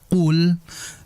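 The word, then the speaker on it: قُلْ: Kesalahan yang sering terjadi adalah tepat sekali pada pertemuan sebelumnya yaitu pada huruf qof.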